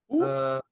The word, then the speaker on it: Shotzi: After that, you had Shotty and them beefing. Shotzi. There you go. You said Shotty. I thought No, you got Shotty. You got Shotzi.